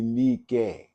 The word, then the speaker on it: Nike: I mean, if we really said that word right, it would be Nike because of the I. The I sound is an E sound.